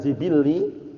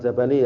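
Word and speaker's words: جبلّي: masyru'un yata'allaqu bi hadzal jibilli, bukan jabali ya. Jibilli itu ya. Orang bacanya keliru nih enggak tahu al-jabali itu. Tahu ya? Allah musta'an. Karena kalau keliru kan nanti lain artinya. Kita lihat, wa hal yumkin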